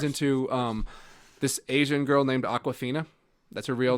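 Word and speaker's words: Awkwafina: Aquafina, spelled like AWK, WAFINA.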